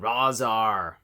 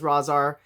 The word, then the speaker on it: Rahzar: have toca and razar i swear i've heard it said both ways the name pronunciation you guys all know what i'm talking about but randy falk says razar there's an r-a-h it implies that sound right am i am